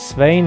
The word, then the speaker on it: Svein: My real name is Svein. It kind of rhymes. It also rhymes with vain and pain and gain.